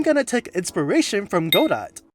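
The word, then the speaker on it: Godot: I'm going to take inspiration from God dot or good. Where did that pronunciation come from? I thought it's go dot because it's a robot.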